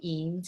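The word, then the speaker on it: Eyam: england and i believe the town is called eems even though it's spelled e-y-a-m-s in the north of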